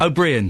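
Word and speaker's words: Ó Briain: I never know how to pronounce his surname. O'Brien.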